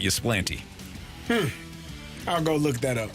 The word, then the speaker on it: Ypsilanti: I think the locals say Ypsilanti. Either way, it's not Ypsilanti.